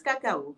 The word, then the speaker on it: Cacao: Métis Cacao, comme le cacao.